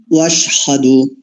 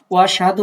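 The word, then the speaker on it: وَأَشْهَدُ: শুধু ওয়াশহাদু মতো হামজাটা একটু শোনা যাচ্ছিল না, বাদ যাচ্ছিল। হামজাটাকে পড়ার মধ্যে নিয়ে আসবেন।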